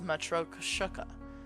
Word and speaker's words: Matryoshka: It's pronounced metro kushuka.